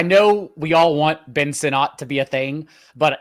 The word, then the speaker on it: Sinnott: Is it Sinnott or Sinnott, John? Sinnott. Sinnott. Okay, Ben Sinnott. I will not pronounce it Sinnott again.